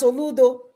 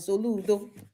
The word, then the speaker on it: Soludo: an amra say today professor Charles Soludo that's how the Dr. see him pronounce it. Soludo maybe I pronounce it properly. I'm not e but I try.